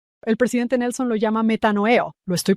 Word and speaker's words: metanoeo: El presidente Nelson lo llama metanoeo. ¿Lo estoy pronunciando correctamente?